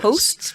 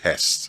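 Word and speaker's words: Hoechst: That's a German pronunciation. Host. But the English pronunciation will say Hest. Hest. Or the local Nigerian pronunciation. That would have been Hest. Hest. But if you ask a German, they'll be host.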